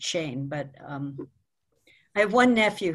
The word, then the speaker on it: Schoen: Schoen-C, except my family's always pronounced it Shane, but...